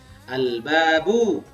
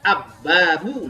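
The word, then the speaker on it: البابُ: Al-babu. Jadi bacanya al-babu. Nah, ini ketemu kita. Al-babu bukan ab-babu.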